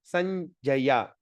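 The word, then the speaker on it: सञ्जय: So how are we going to pronounce that? Nya. So Sanjaya, Sanjaya. Okay, Jnana, Nya. Okay, it sounds like Nya.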